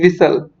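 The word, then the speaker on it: whistle: इसको क्या पढ़ते हैं, विसल। ठीक है, तो दोस्तों आपको ये ध्यान रखना था, ये पूछा गया था पेपर में कि विच letters are silent in the word विसल। तो एच को हम छोड़ के और टी को छोड़ के बोलते हैं।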